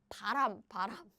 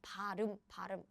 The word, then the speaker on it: 발음: Yeah, it sounds like 바람. Wind, right? But it's 발음.